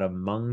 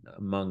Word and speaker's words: Hmong: fall down and it's about among child um among is spelled hmong with uh epilepsy and